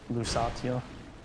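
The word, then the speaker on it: Lucatiel: I'm about to summon lucatel she's the best NPC in the game but I think she's gonna die because she's gonna get pushed off a ledge lucazio that's how uh Miyazaki pronounces yeah Mickey Mickey's awesome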